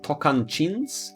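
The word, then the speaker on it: Tocantins: and sergipe and Bahia then we have tokan chins which is spelled not phonetically um then we have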